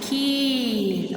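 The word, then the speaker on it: कील: This is short pronunciation, kil. This is long pronunciation, keel.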